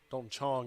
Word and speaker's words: Dalton Chong: Dalton Chong is how it's pronounced, pardon me.